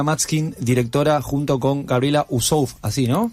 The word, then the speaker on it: Uassouf: Estamos hablando, repito, con Martina Matskin, directora, junto con Gabriela Ussouf, así, ¿no? Wasuf. Wasuf, lo voy a Tenemos, pronunciar.